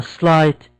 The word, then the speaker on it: slight: Calamity seemed like a slight g h here is silent a slight twitch slight twitch was